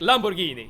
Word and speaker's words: Lamborghini: Alright, you both say G as in gay. Alright. But Lamborghini. That has to be correct. Lamborghini.